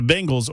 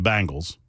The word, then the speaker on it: Bengals: The Bengals, or as Mac Morey calls them, the Bangles.